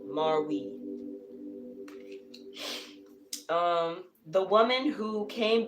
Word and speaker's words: Marwe: queen of cups this is marwee marwee spelled m-a-r-w-e marwee um the woman who